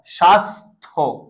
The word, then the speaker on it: স্বাস্থ্য: হবে এটা হল থ স্বাস্থ্য স্বাস্থ্য স্বাস্থ্য ক্লিয়ার ইয়েস দ্যাট মিন লক্ষ কর স এর সাথে একটা থ আছে অনেকে ভাববে এটা হ এটা হ না তুমি উচ্চারণ করো দেখবে এটা থ সন্ন্যাসী যেকন স উচ্চারণ